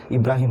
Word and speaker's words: इब्राहिम: Basically इन्हें Abraham लिखा जाता है, पर हिंदी में इनका प्रोनाउंसिएशन इब्राहिम होता है।